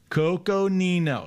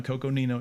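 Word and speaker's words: Coconino: one's in okay okay i always get in trouble too by saying this one incorrectly so i'm gonna say it correctly here right coco nino you guys like when i say it correctly nino arizona coco nino arizona and uh here we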